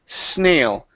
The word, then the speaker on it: snail: an oo sound, it's snail. Snail in the ditch. Snail in the ditch. Give me the L at the very end. Instead of snail, snail. With your tongue at the top of your mouth.